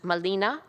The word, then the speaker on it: Malina: This particular young woman came to have the name of Marina, but the European R could not be pronounced in Nahuatl. In Nahuatl, she would have been known as Malina or Malinche, the Tsin equivalent to the address, the gracious and courteous address of Doña.